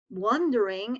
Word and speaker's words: wandering: one with an o wandering is when you're asking yourself something that's when you're wondering all right two different things so the pronunciation is key here wandering one and the other one is one during like one like the number wondering okay the next